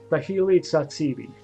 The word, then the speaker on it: Thahili Tsatsibi: His name, in case you're wondering, is you pronounce his name like Thahili Tsatsibi. In case you're wondering. Thahili Tsatsibi. I know it's a stupid name, but if you like Greek food, just think of tzatziki, and then instead of tzatziki, it's tsatsibi.